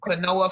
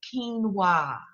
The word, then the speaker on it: quinoa: I discovered quinoa, even though it's spelled quinoa, because I was saying quinoa for the longest until I Googled it. And I was like, oh, that's quinoa.